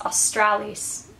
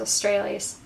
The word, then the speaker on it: Australis: Australia not austral austral somebody told me it was Australis I thought it was australes I can't pronounce things